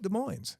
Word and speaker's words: Des Moines: And the locals call it Des Moines.